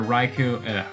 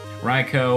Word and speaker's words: Raikou: I wonder how long it'll take before I run into either Raikou, there I said it right, you can stop yelling at me. Raikou or Entei.